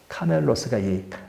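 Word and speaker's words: κάμηλος: 카멜 그러잖아요 근데이 헬라어로는 카멜로스라고 합니다 카멜로스가 낙타란 말이에요 근데 밧줄이라는 말이 있죠이 밧줄이라는 말이 카밀로스란 말이야 이게 그 조금 차이가 있어요 낙타는 카멜로스 밧줄은 카밀로스 그러니까 거의 발음이 사고 조금 차이잖아요 그러니까이 발음상 기록을 잘못해서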